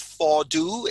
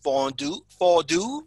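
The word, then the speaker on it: Fond Doux: It is called Fondu. It's F-O-N-D. And then next word, D-O-U-X, Fondu is the pronunciation.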